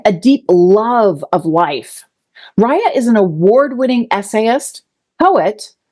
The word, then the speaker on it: Rhiah: She goes by Rhiah, right? Did I say it right? Rhiah.